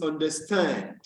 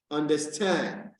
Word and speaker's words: understand: The third one is understand, understand, understand. The fourth one is continue, continue. Now you realize that at the pronunciation of each of these words, it is